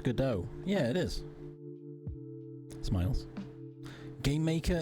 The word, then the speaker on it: Godot: So I made the mistake of it's pronounced Godot.